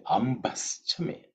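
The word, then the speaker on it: अम्भश्च मे: So the word is actually ambaschame. Ambaschame kalpatam. Ambaschame kalpatam. So now, in terms of pronunciation, ambha. That bha is the fourth letter in the pavarga, so it has to be aspirated.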